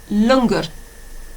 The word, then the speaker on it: langar: Okay, how about langar? And that is spelled L-A-N-G-A-R.